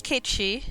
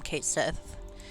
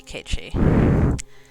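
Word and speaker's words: Cait Sith: And I will pronounce it Kate Shi, even though I think in Rebirth or something they call him Kate Sith. And and that's fine. I mean, people pronounce things the way they're gonna. But it is like a figure in folklore, so it should be Kate Shi.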